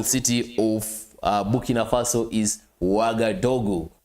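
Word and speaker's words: Ouagadougou: of Buki Nafaso is Wagaogu. Wagadogu I believe I have the best pronunciation when it comes to that uh capital city.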